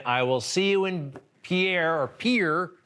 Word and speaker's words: Pierre: will see you in pierre or pier pier right you know here look it's video absolutely it's spelled pierre like the french guy but it's actually pronounced pier i knew that part